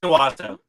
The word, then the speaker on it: Owosso: It's Owosso.